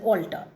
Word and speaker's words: altar: place, that is an altar, ALTAR. And then one altar is ALTER, altar. There is no difference in the pronunciation, it's absolutely the same.